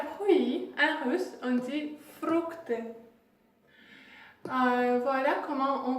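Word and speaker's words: фрукты: Pour commencer, déjà fruits, en russe, on dit fructe. Voilà comment on prononce ça, ici vous pouvez le lire, fructe.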